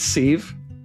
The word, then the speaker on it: sieve: Widget says, well, I'm the writer and pronounce it like give.